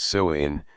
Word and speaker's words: Samhain: The origins of Halloween date back over 2,000 years to the ancient Celtic festival of Samhain, pronounced Samhain, celebrated on October 31st.